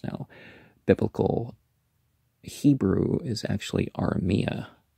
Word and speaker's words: Aramaic: landmarks waste places etc the aramaic aramia is how you really pronounce it uh which jesus